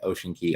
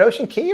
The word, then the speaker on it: Ocean Cay: ocean key for sure so it is key just like like the standard one so just cocoa it's